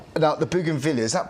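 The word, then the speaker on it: Bougainvillea: Um the next one we got here right now the Buggan Villia. Is that pronounced correctly? Yeah, Buggan Villia.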